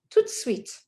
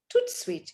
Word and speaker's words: tout de suite: Next, tout de suite. Tout de suite. You think you are pronouncing the T, but you're not. You're pronouncing the D. And it sounds like a T.